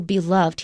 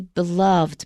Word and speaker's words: beloved: similar words with ed for example beloved he's widely beloved but my beloved friend when you put it in front of a noun usually we pronounce e-d as a separate syllable so he uh that